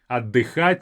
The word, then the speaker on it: отдыхать: More like a elongated letter d.